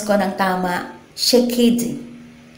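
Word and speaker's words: שקד: ma-pronounce ko ng tama, shekedi. Shekedi. Yan. Ang spelling po, S-H-A-K-E-I-D, pero ang pronunciation niya parang shekedi.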